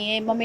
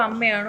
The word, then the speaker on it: അമ്മ: പക്ഷേ അങ്ങനെ ഒരു സാഹചര്യത്തിൽ അമ്മ എന്നുള്ള പേരിന് ഈ സംഘടന യോഗ്യതയില്ല എന്നൊരു സാഹചര്യത്തിലാണ് AMMA എന്നൊരു പ്രൊനൗൺസിയേഷനിലേക്ക് അത് മാറുന്നു, ഉച്ചാരണത്തിലേക്ക് അത് മാറുന്നത്. അങ്ങനെ ഒരു സാഹചര്യം എന്താ നിങ്ങൾ പറയുന്നത്? ഞാൻ പറഞ്ഞു വന്നത്, ഇപ്പൊ അമ്മയാണോ AMMA ആണോ?